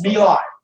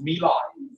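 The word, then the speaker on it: My Lai: in 1968 in 1968 about no no it's Mei it's Mei it look like M but it's pronounced Mei in 1968 about a month after T about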